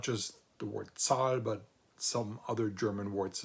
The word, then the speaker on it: Zahl: derived from the noun die Zahl, which means number, and that is zahlen, which means to pay, and then zählen, which means to count.